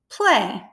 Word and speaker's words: play: Knowing that AY makes the long sound A, how might you spell play?